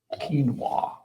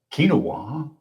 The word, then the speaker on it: quinoa: How about uh quinoa? I mean I've heard people call it quinoa. I myself hesitate before learning it's quinoa.